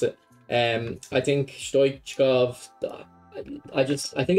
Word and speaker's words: Stoichkov: Yeah, that's how you pronounce it. I think Stoichkov, I think it's actually similar to Roberto Carlos.